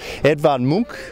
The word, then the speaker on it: Edvard Munch: Edvard Munch, in fact, is how they pronounce it here.